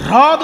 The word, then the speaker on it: হ্রদ: কিন্তু হ্রদ উচ্চারণটা সবসময় হয় না, হয় রফলা দ, হ্রদ তো।